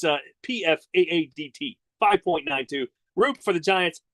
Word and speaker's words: Pfadt: But if you look at his name and how it's spelled, it just looks like something you would say it's Fought. It's Pfadt.